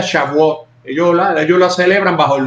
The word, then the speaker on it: Shavuot: de Pentecostés, que también en el idioma judío o hebreo más bien se pronuncia Shavuot.